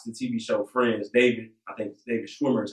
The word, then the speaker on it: Schwimmer: I seen online that for those who watch the TV show Friends, David Schwimmer is how you pronounce his name, had posted that there should be a black version of Friends.